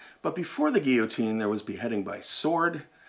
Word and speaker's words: guillotine: Judicial punishment we think about the famous French yotin or the guillotine as it's properly pronounced but before the guillotine there was beheading by sword and also beheading